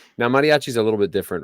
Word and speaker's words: mariachi: is so typical of how Americans would usually pronounce it. They would say mariachi. I know, and it's mariachi or however you say it. No. It's mariachi. Mariachi.